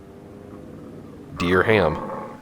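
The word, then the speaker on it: dirham: I want to look up the pronunciation dear pronunciation dear ham dear ham dear ham okay dear ham dear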